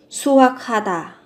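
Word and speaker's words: 수확하다: Suakata, suakata, suakata, thu hoạch. Các bạn nối âm lên nhé, phụ âm cờ và hờ phát âm thành âm khờ. Suakata.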